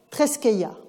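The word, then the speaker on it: θρησκεία: il va préciser que religio traduit le grec treskeia, en prononciation érasmienne.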